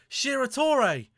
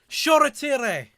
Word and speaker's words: Shoretire: They can't even pronounce his name right on the bloody BT. They just called him Shiratore. Shoretire.